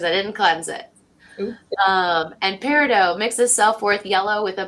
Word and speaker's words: peridot: The crystals are rose quartz, of course, the diamond, and the peridot. Peridot, I think is how you say it. It's peridot, yeah.